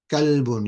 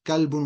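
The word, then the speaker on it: كلب: Somebody's asking about saying kalbun. Yeah, so what I said is kalbun with a kaf means dog, and qalbun with a qaf means heart.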